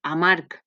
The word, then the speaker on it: amarg: Per exemple, porc es pronuncia igual que amarg. Les dues es pronuncien com si fos una C, encara que una d'elles es pronuncia en G.